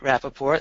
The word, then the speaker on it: Rappaport: make first of all I pronounce my name Rapaport of gila logic but